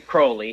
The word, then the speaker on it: Crowley: he pronounced his name Crowley he said it rhymed with holy okay so um yes